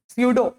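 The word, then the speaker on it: pseudo: जिसमें पी गायब रहता है।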